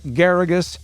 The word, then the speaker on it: Geragos: Counselor Mark Geragos rhymes with asparagus.